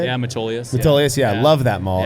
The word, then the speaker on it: Metolius: Yeah, Metolius.